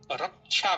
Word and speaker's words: रक्षा: ककार और मूरधन्य सकार के संयोग से क्षत्रिय छ बनता है जिसे हम रक्षा बोलते हैं।